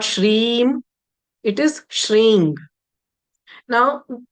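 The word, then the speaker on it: श्रीं: If I were to write in English, that ng, that nasal m is equal to ng, that nasal sound, if not anything else. If you're not able to understand anything else, is that ang sound So shring is the way to pronounce it.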